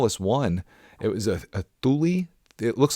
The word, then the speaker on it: Thule: It was a Thule. It looks like Thule, Thule. Thule, I think, is how it's actually pronounced.